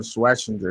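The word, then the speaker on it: Schwesinger: Carson Sweinger. That's how you pronounce it.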